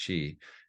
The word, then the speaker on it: Qi: as Chi so that Qi is pronounced Chi and absence is the